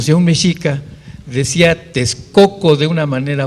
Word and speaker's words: México: y que llamamos méxico nosotros lo pronunciamos como méxico que es la forma verdaderamente más allegada a la pronunciación náhuat pero el x tiene un problema muy serio en el caso de méxico es j en el caso de